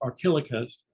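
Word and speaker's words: Archelochus: And instead, the Trojan Archelaus, Archelouchus, if you have a visual memory, looks like Archelouchus, it's pronounced Archelaus.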